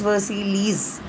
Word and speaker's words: Versailles: It's written as Versailles, but the pronunciation is Versailles.